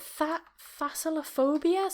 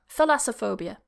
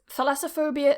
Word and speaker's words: Thalassophobia: Is it phasalophobia? Something like that? Yeah. Let me have a look at the pronunciation as well of that. Pronunciation. How to pronounce Thalassophobia. Thalassophobia. That's it. Thalassophobia is a type of specific phobia that involves